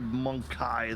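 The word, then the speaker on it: Mon-keigh: I guess they do pronounce it monkey. Human scum! Might have been the voice actor, because I've heard Monkai the majority of the time.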